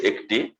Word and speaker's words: একটা: তারপরে হচ্ছে এ ক টয়রস্যি, এটা ঠিক আছে একটি, বাট আমরা যদি বলি এ ক ট আকার, এ ক ট আকার একটা, কিন্তু ঠিক আছে, একটা একটা। তাহলে বেলাকে আমরা শুদ্ধ উচ্চারণে